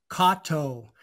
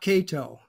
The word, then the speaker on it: Kato: the correct pronunciation is Kato, not Kato. Kato. So if it were written out in Romanji, that is Latin interment, it would be spelled Keito.